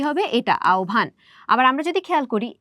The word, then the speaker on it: আহ্বান: তাহলে এটার উচ্চারণ কি হবে? এটা আওভান।